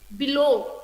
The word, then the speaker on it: below: Okay, it is not clearly pronounced, so I have to put the stress mark on the second syllable, that is low.